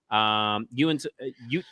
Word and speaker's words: Uinta: UINTAH. All right, I'm gonna have the thing say it for us. Yeah, me too.